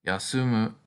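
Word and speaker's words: 休む: tree or resting under it this verb is pronounced yasumu in dictionary form here's another pictogram that should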